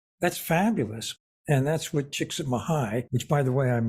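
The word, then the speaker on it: Csikszentmihalyi: you were amazed that's fabulous and that's with chicks at mahigh which by the way I'm impressed you pronounced it correctly pretty good huh I get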